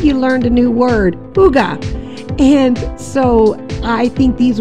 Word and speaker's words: hygge: It was spelled H-Y-G-G-E, and I've never heard of that before.